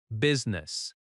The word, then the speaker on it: business: Business is pronounced with two syllables. B U S ness. The I in the middle is not strongly pronounced.